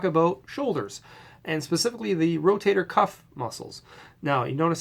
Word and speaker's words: rotator cuff: or miss misspoken term a lot of people say the rotator e cup or rotor cup no it's the rotator cuff muscles cuff like a shirt so that's number one